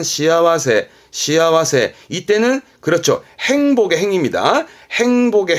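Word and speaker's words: 幸せ: 여러분 암직한 것은 새가 나올 때 발음은 시아와세.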